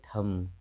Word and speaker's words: थम: अगली बारी आ रही है थम। थम मतलब अंगूठा, एम के बाद बी है।